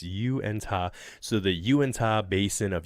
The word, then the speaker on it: Uintah: This is how it's probably, they're saying it probably should be phonetically enunciated. Uintah. So, it's Uintah.